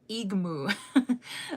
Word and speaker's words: igmu: So, we add um law, no, igmu, like with the g.